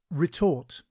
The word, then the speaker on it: retort: Today's word is retort. It is pronounced re-tort and is spelled R-E-T-O-R-T.